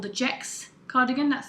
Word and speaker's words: Gex: So this is called the Gex cardigan. That's spelled G-E-X.